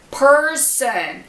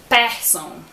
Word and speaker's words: person: Alguns exemplos: dancer, mother, better, person. Eu vejo muitos alunos meus falando person. E tem 2 pronunciações erradas aí, tanto o R quanto o ER. Person, ok?